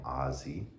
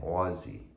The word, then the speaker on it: Aussie: calling him Ozzy because we pronounce it O-Z-Z-Y, like Ozzy and Harriet, Ozzy Nelson, Ozzy Osbourne, when really he's named Ozzy due to his being an Australian Shepherd. So really we should be saying Aussie.